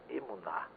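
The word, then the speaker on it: אמונה: A palavra fé em hebraico se pronuncia emuná.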